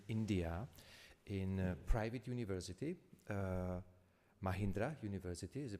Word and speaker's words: Mahindra: Social Sciences in India, in a private university, Mahindra University. Is the pronunciation correct? Okay, Mahindra University.